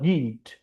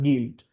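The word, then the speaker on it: Gwilt: devious schemes of Lydia guild or guild probably it's just a it's just a play on words it's actually pronounced guilt Lydia guilt her but but the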